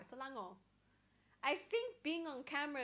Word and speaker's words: Selangor: I don't normally pronounce the R. Selangor.